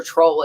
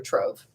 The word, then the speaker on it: trove: It's not treasure troll, it's treasure trove.